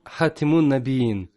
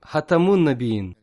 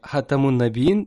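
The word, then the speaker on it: خاتم النبيين: Хазрат Али сказал ему: «Не учи моих детей словам «Хатимун Набиин», а учи их словам «Хатамун Набиин», печать пророков». То есть буква «Т» должна произноситься с огласовкой фатха, а не касра.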